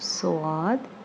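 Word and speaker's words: صاد: Sheen okay next is swath is the pronunciation of soad and it's like the alphabet s okay next is but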